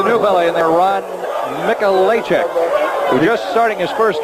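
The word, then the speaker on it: Mikolajczyk: It is Mikulacek. The spelling, though, is M-I-K-O-L-A-J-C-Z-Y-K. Spell it 17-7.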